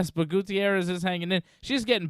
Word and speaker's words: Gutierrez: Gutierrez. Exactly. It's not Gutierrez. No. Gutierrez? Listen, You pronounce Gutierrez? Gutierrez? Well, yeah, exactly. That's the way Gutierrez. you say it. It's about time you say it right, Dave.